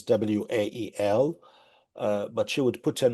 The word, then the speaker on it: Wael: Again, my name is WA El, Mark. It's spelled W A E L.